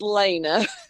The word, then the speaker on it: Lena: And if it's it's okay if you pronounce my name wrong because it's a play Alana Del Lana Del Rey, but it is pronounced Lena.